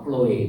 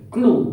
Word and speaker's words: Chloe: Siapa Chloe itu saudara? Atau bacanya bukan Chloe ya. Clue Saudara seorang namanya Clue, seorang perempuan.